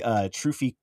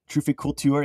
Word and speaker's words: trufficulture: So the trufficulturist, it's actually trufficulture, trufficulture. It's like all French, so it sounds kind of gay.